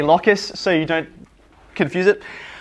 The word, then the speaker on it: locus: an insect remember so i always call this locus i equally hear it pronounced lucas but i think that sounds too much like um like the crazy grasshoppers so i i say locus so you don't confuse